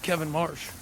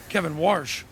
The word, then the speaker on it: Kevin Warsh: By the way, welcome to the big leagues, Kevin Marsh. Kevin Warsh. See, he's not even a known guy now. I've got his name wrong. Marsh.